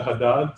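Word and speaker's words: Jadad: common um scales is the haddad scale you may have heard of it it's spelled as j-a-d-a-d dr haddad himself came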